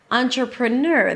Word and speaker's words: entrepreneur: So first of all the primary stress of this word is at the end nur entrepreneur that means if you